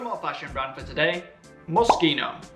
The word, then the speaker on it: Moschino: One more fashion brand for today, Moschino. In Italian, the combination of letters S-C-H-I are actually pronounced ski. So, this Italian brand should sound Moschino.